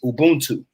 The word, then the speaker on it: Ubuntu: African proverb is uh the word for it is Ubuntu it's spelled u-b-u-n-t-u Ubuntu and it means I